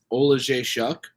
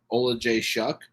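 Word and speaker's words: Oleksiejczuk: I mean, and that's, from my understanding, that's how it is pronounced, Olajaychuk, not like Olajaychuk, like the phenomenal women's fighter, but Olajaychuk.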